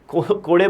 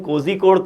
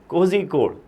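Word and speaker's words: കോഴിക്കോട്: कोड़े बोलना बंद करो, अगर बोलना है तो कम से कम कोझिकोड तो बोल लो। वो री शायद नहीं बोल पाओगे, वो ZH is pronounced as L something in Malayalam, तो भले ही उसको प्रॉपर प्रोनाउंसिएशन ZH वाला नहीं कर पाओ तो कम से कम कोड़े तो मत बोलो, कोझिकोड एटलीस्ट उतना तो मान रख लो जगह के नाम का, ठीक है।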